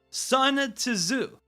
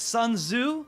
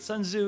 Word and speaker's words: Sun Tzu: we got our man son to zoo i i know i pronounced that wrong it's sun tzu is i think you don't pronounce the t in that you actually pronounce the zu so this guy right